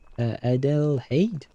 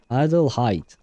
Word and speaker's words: Adelheid: Oh, but that would be in German, right? Adelheid. Oh, that's how they pronounce it in English as well. Adelheid.